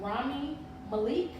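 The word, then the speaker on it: Rami Malek: was Queen of maleeni arrest and I wanted pronounce his name correctly Rami Malik he plays Freddie Mercury in the movie and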